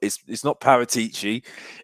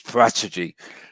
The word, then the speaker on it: Paratici: I'll tell you this for a fact: it's not Paratici, it's Parachegy. That's the way you pronounce it, because Alistair Gold says that when he said Paratici, they correct him, the press officer, and says it's Parachegy.